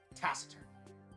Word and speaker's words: taciturn: Taciturn. That's how it's pronounced.